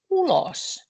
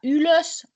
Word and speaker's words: ylös: Yeah, you have to be pronounced quite clearly, because otherwise, if you are not pronouncing y and ö, then it sounds like you are saying ulos.